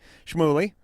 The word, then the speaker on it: Shmuley: see if I can pronounce the rabbi's name correctly Shmuel e right first name you got that right and rabbi it means